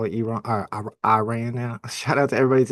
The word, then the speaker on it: Iran: You're supposed to pronounce it. Iran, not Iran. And then I always thought it was Iran from like the weird days, but yeah, apparently it's Iran.